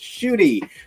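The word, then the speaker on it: Ncuti: video talking about how his name is pronounced shooty like shooting star then his mom called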